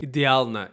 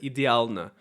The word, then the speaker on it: идеально: Идеально. Another big problem that a lot of non-Russian speakers make, they can't pronounce the L sound. Again, come the same stuff. Soft consonants. He said идеально instead of идеально.